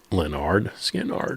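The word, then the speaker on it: Lynyrd Skynyrd: Another good one off of pronounced Leonard Skannard.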